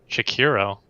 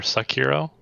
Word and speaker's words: Sekiro: And that's Shakiro. Oh, right. Or Sakiro? Is that how you say it? I don't remember. Sekiro?